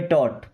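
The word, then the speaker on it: taught: जैसे टी एच ओ यू जी एच टी देखिए थॉट क्या पढ़ते हैं थॉट ठीक है टी ए यू जी एच टी यहां पे टॉट यहां भी साइलेंट है ओके तो इन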